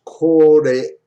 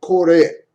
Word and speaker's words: これ: 2つずつありますから、英語では間違いない。Here are the pronunciation of the word R とか、K-O-R-E would be pronounced kore. これ、 So there's no kore じゃない。間のトーンだから、and kuruma.